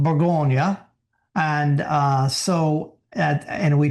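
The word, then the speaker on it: Bourgogne: Now sometimes we think burgundy wine is the color but no burgundy is the region in French it's called burggonia and uh so and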